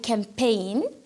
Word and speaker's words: campaign: اذا هنا عندي honesty، عندي campaign اللي هي حمله هنا الجي ما يتقراش، عندي while دونك الاش تاعي ما يتقراش، وعندي fight يحارب عندي جي اتش هذا ما يتقراش.